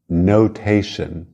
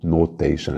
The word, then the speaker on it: notation: Notation. Cuidado com o O no início, não é no, notation, é no, o. Notation.